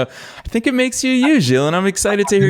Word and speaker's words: Gilles: And thank you for pronouncing my name correctly. I'm doing my best, Gilles.